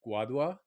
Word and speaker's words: Guadua: I want to talk to you a little bit about the uh we were talking about how do I pronounce this? The guadua?